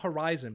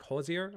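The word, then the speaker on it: Hozier: So, does does anybody here know the song by um is it how do you say it's not Horizon, but it's like Hosier Hosier?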